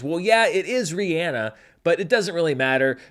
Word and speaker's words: Rihanna: me into a bit of a tailspin on Rihanna, because he kept talking about Rihanna. Rihanna is with us tonight. Rihanna got her first Oscar nomination. And I have only ever said, and quite frankly ever heard, Rihanna.